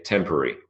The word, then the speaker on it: temporary: doing two or three I say temporary temporary is two syllables but some people say temporary temporary so temporary is three syllables temporary is two syllables if you said two if you said three that's both fine insufferable insufferable is four